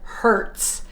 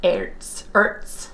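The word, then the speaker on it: Herdez: She cracked up because I said Hertz. She said the H is silent. It's Ertz, or something like that.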